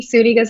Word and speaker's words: Zuniga: want to say it's spelled Z-U-N. So, I mean, you want to say Zuniga, but Zuniga. How's that? That's right. All Pronounce with an right. S.